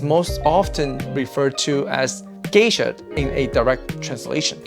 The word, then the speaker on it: Geisha: i do agree that the name should be pronounced geisha to identify its origin and not further contribute